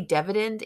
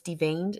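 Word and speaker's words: deveined: say this wrong de-veined i always want to say dividend even though i know it's de-veined shrimp and i'll say it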